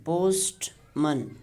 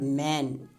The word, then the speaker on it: postman: is a schwa sound usually we people pronounce it postman man it is not man it is man postman postman so in